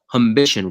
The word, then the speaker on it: humbition: you're the founder and also managing partner of aition right that's how you you pronounce the the fund exactly yeah it's an